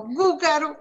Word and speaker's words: gúgaro: Pero es guáu o gúgaro, por ejemplo. Gúgaro suena suena suena fuerte la primera sílaba.